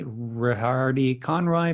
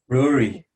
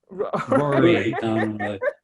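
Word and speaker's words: Ruaidhrí Conroy: guys can correct me rihardi conroy from six shooter rory rory i know it's irish rory nickname rihardi yeah ai is how this name is spelled so it's really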